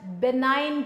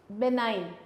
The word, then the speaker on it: benign: First one is named as benign tumor. Benign. Benign में G silent है।